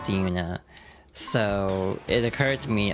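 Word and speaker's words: Yoona: It's spelled Y O O N A but pronounced Duna.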